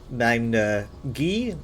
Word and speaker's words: Magna Ge: Some people say Magna G, some people say Magna Gay.